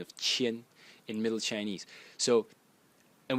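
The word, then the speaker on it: 千: sound of the character, which is pronounced qian.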